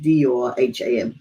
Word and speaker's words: Durham: I don't know how you pronounce it, D-U-R-H-A-M, Durham.